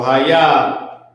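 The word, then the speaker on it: היה: So ha, ya, ha is how it's spelled, but it's pronounced ha, ya.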